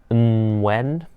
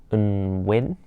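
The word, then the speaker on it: Nguyen: It's supposed to be pronounced when or when, or some people just say when, some people just say when.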